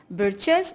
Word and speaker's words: breeches: He had a little wool shirt with old fashioned breeches and a high tall hat much like a witch's. Okay, to rhyme with witches and breeches, the author has used the word breeches.